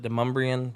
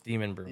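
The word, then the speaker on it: Demonbreun: It looks like that's how it's spelled, but everybody pronounces it Demumbrian, but it's Demon Brewing.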